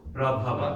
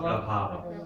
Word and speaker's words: prabhava: Prabhava Pralayaha Sthanam Short syllables. Prabhava, not prabhava. Prabhava.